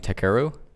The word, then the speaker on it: Takeru: kogi how do you say his first name takeru yeah it's okay kobayashi kobayashi kobe he uh